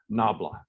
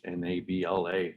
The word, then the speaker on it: nabla: not the gradient and the way that you pronounce this in english is you say nabla that's n-a-b-l-a nabla in latex backslash nabla